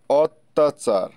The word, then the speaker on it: অত্যাচার: যেমন কর্ণা বর্ণা ইত্যাদি তিন নাম্বার শব্দের শুরুতে সর এর পরে জ ফালা যুক্ত ব্যঞ্জন বর্ণ থাকে তাহলে সর এর উচ্চারণ ও এর মত হয় যেমন অত্যাচার তারপরে অন্য ইত্যাদি তারপরে